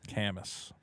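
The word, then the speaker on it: Camus: good uh for two he says guaranteed veto mispronounces cus or c it's cus cus The Stranger yeah the author of The Stranger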